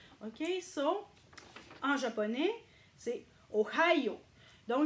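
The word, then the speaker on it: ohayō: OK, so en japonais, c'est ohayo. Donc, j'ai souligné ici le H parce que c'est très important de le prononcer, parce que si vous ne le prononcez pas, vous n'avez pas la bonne intonation.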